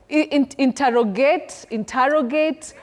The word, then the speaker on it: interrogate: commonly hear around us, but you say inte, not inter. Oh. Interrogate. Oh. Interrogate with a stress on te.